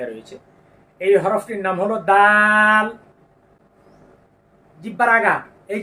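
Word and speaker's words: د: এই হরফটির নাম হলো দাল জিহ্বার আগা এই যে দেখেন জিহ্বার আগা এই দাঁতের আগা গোড়ার সঙ্গে এর আগে আমরা তা পড়েছি না একই জায়গা থেকে উচ্চারিত হবে দাল আপনি আয়না দেখুন আয়না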